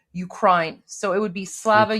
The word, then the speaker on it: Ukraine: But what what what he means is that um when you say Ukraine, don't say Ukraine. Pronounce it uh the way you would the I in high. So Ukraine.